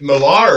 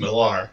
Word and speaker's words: Millar: Is it Millar or Miller? I've heard both. I've always pronounced it Millar. I believe it's Miller. I believe it's pronounced Miller.